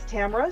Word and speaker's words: Tamara: sure my name is Tamara uh rhymes with camera I always throw that in there because and still doesn't matter someone will still call me Tamara but that's okay I'll